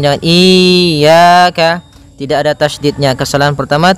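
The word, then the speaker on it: إياك: Pada lafal ya ini hati-hati dalam pelafalannya ada dua kesalahan yang sering terjadi. Yang pertama yaitu dia memanjangkan iya. Nah, seperti itu harusnya dia ee ditekan dan dilembutkan. Iyaka. Iyaka. Nah, kemudian jangan sampai dibaca panjang.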